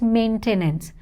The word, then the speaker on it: maintenance: of E and A it's maintenance maintenance no need to say a I here it's maintenance maintenance next we have